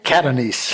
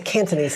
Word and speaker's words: Catanese: Catanese. Catanese. I always want to say Cantonese, and that's wrong.